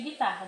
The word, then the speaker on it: guitarra: E as que vocês não pronunciam o U como guitarra, você vai escrever na letra B.